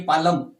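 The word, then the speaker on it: palm: होती है ना की पालम पी ए ल साइलेंट और एम पं इसी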